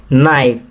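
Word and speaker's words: knife: नाइफ, यहाँ के silent letter लिखेंगे।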